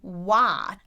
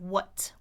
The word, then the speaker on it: what: Like when people say what, they often say what and their jaw is just too open. What instead of what what.